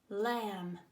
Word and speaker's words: lamb: no there's one more hello I'm mmm a silent B how weird oh but I'm very useful in words like thumb and lamb Oh foo second-graders I'm